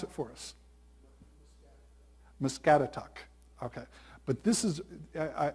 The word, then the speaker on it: Muscatatuck: Can you pronounce it for us? Muscatatuck.